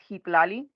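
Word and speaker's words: Xitlaly: I've seen that's the most iel am I pronouncing your name right 30 years yes yes awesome so my daughter's name is hiali it's x i t l a l y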